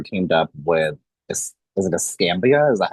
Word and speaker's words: Escambia: So in 2004, the Class Kids National Search Center teamed up with, is it Escambia? Is that how you say it? Yep, Ascamia.